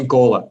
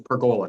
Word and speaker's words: pergola: Pergola. Pergola it is, and today's discussion is pergola, not pergola, pergola.